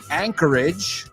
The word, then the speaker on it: Anchorage: Anchorage, vamos a pronunciarlo porque anclaje, eso es. Bueno, es por algo que se llama así. Y acuérdate, no es age, Rima con bridge.